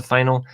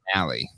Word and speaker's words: finale: I loved about the final Pronounced is finale. I know I always fuck it up.